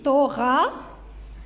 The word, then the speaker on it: thorax: On le lit pas, c'est un H muet. Donc T-O. T-O. Oui. E-R-A. Oui, thorax.